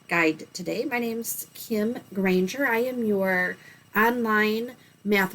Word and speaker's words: Granger: It's spelled and sounds like a park ranger with a G in front of it, so Granger.